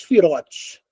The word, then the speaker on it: sefirot: da vida existem 10 fotes tá apesar de você ler aqui sefirot a gente pronuncia em hebraico sefirot é como se não tivesse o o o o e né fote Tá certo então desde kter